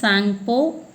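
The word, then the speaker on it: Tsangpo: T is silent, so it should be pronounced as Sangpo.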